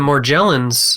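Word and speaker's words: Morgellons: in all of the more gel ins research and that's that is the correct pronunciation of it it's a soft G because it's back to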